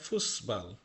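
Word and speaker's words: Fußball: আচ্ছা, এইখানে যেই এস সেট আছে এটার মানে হচ্ছে ডাবল এস, তো এটা ফুসবাল, ডাবল এস ফুস, একটু এরকম ফুসবাল এইভাবে উচ্চারণ করবেন।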